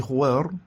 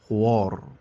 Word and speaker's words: خوار: في كلمة خوار تقع الواو بين الخاء والراء، وهما حرفان مفخمان، وهنا يقع الخطأ، فبعض القراء يفخمون الواو تبعا لتفخيم الخاء والراء فيقولون خوار، ويحدث هذا الخطأ لأن